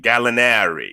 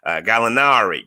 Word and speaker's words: Gallinari: snell uh daniello gallinari galinari you gotta kinda say it like with an italian italian twang on it galinari chris dunn and rajon